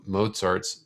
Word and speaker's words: Mozart: first movement of both mozart's symphony number 40. now something else i like about mozart is that his name kinda rhymes with pop tart which is good here